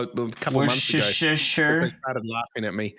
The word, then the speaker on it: Worcestershire: Worcestershire. Worcestershire. No, it's share. It's share. You don't say shire. It's share. I learned this the other day. Well, a couple of months ago. Worcestershire.